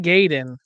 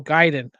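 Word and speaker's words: Gaiden: Ninja Gayen. No, Giden.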